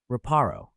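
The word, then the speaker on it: Reparo: Raparro.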